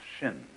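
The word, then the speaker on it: 心: please pacify my mind in Chinese mind is um this word pronounced shin and shin is here Shin is the heart mind it's the psychic Center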